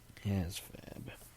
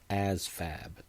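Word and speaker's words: ASVAB: Um, ASFAB, the Armed Services Vocational Aptitude Battery, ASFAB, and it's a V, not an F, but it's pronounced like ASFAB, like it's like it's an F.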